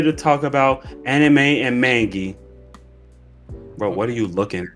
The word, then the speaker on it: manga: talk about anime and manga. Bro, what are you looking at? okay. I'm gonna correct you here, buddy. It's not mangi, it's a manga. Okay, buddy. Manga, manga. You gotta learn the pronunciation.